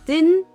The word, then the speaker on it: didn't: Here is din din. Yes, I know sounds a little bit challenging or difficult, but I know you can get it. Din.